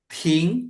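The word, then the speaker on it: 停: ting, betul ya. Jadi bukan ting, kalau ting nada satu artinya mendengar. Tapi kalau ting nada dua artinya berhenti.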